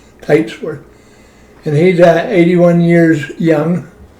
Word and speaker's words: Teitsworth: I have the pleasure of talking to, how do you say your last name? Titworth. Titsworth.